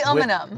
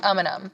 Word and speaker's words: Umunhum: It's really Umunhum.